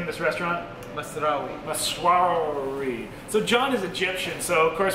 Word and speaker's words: Masrawy: John, how do I pronounce the name of this restaurant? Masrawy.